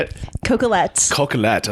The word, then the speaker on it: Coquillette: Coquillette.